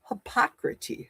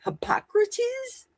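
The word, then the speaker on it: Hippocrates: Not hypocrite. Hypocrates.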